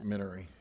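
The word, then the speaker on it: Mignery: The G is silent, it's Minery, just for Mr.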